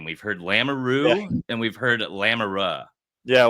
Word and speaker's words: Lamoureux: Well, the way to say it in French is lamuru. So, that's that's a proper way to say it, but it's it's hard for English people to say the the R. So, normally everyone just says lamaru. So, lamaru is fine.